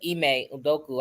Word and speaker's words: Ime Udoka: First of all, shout out to Ime Udoka. I don't know how to pronounce his name.